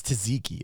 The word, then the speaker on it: tzatziki: It's tzatziki. It's tzatziki, by the way. I'm pretty sure it's tzatziki.